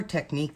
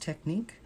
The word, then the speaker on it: Technik: But you can just do a search on Amazon for the Color Technique, and Technique is Technik. I believe it's pronounced Technique.